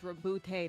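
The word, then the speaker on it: Roboute: I was about to give a funny answer and say Rabute didn't lay it down, he wrote it down. I was just gonna say it's Reboot, not reboot.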